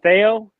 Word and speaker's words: Thayo: And is it Thayo?